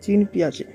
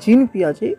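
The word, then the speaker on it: Jean Piaget: আজকে যে থিওরি অর্থাৎ জিন পিয়াজে। অ্যাকচুয়ালি অনেকে উচ্চারণ করে জিন পিয়াজে, উচ্চারণ জিন নয়, এই উচ্চারণটা কিন্তু যা পেঁয়াজে হবে।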